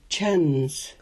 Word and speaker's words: Chuns: on top is called a C with a wedge. It's the same as the sound at the beginning and the end of the English word church. It's in the Klallam word for teeth. Chuns.